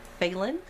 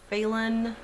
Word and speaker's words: Phelan: my last name is phelan like raven phelan who did the dreams of gayatera um and there goes my stomach and it's probably pronounced phalen because it is irish and that is the pronunciation so we kept that